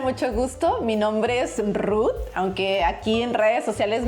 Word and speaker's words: Ruth: en Japón también Ruti porque Ruth no lo pueden pronunciar los japoneses. ¿Es verdad? ¿Cómo se dice Ruth en japonés? Me decían. ¿Y cómo te dicen ahora Ruti? Ruti. Ajá. Es como más fácil. Ajá, porque en Japón la T y la H como que casi no tiene pronunciación, porque sería Ruto.